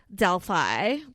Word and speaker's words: Delphi: Or Delphi. It's Delphi, sorry. Is it Delphi? It is Delphi. That's how they say it in America.